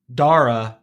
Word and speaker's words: Dara: My name is pronounced Dara like data. So it's Dara. Dara. Okay. Yeah. Dara. Okay. Dara. Dara. Like Dare to Dream.